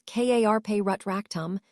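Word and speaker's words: Carpe Retractum: "Remember, it is pronounced as Karpe Rutractum.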